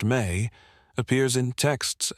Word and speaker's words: me: The Samrian concept of me pronounced may appears in texts not as abstract moral principles but as tangible objects, transferable powers, operational procedures.